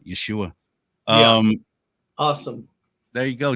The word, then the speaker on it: Yeshua: Yeshua or excuse me the Hebrew pronunciation of Jesus is Yeshua um awesome there you